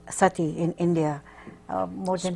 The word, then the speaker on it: Sati: Yes, and there used to be a custom called sati in India. More than Spell that, I'm sorry. S-A-T-I.